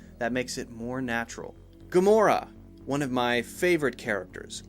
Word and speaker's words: Gamora: stressed more than others when we say Gamora which syllable are we stressing or we putting focus on are we stressing good or more or us a three syllable word Gamora Gamora Gamora well we're stressing more so when we don't